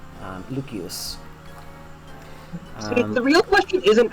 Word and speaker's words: Lucius: know Mando I know it's Lucius I am specifically and intentionally using the Vulgar Latin pronunciation because I like to do that when I see Latin names um lucus see the real question